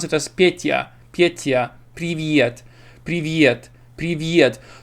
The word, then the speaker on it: Привет: English speakers would pronounce it as Petya, Привет. So oftentimes they try to add this little this little Привет.